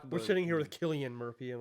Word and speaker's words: Cillian: So I think it's pronounced Oona. But I'm not 100% sure on that. But Cillian Murphy is how you say Cillian Murphy.